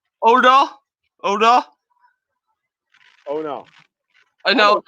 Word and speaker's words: Udo: The U is not is not pronounced like U in English. It's more of an O. It's a double O.